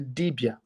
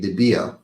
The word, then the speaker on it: dibia: how it comes to the service of the debia the O speaks to the debia about the